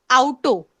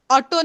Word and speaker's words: Auto: जाइन आउटो, ऑटो नहीं. भले ही वो इंग्लिश के जैसे ही हम लोग स्पेल तो कर रहे हैं, फिर भी आपका जो प्रोनाउंसिएशन होगा दैट विल बी आउटो.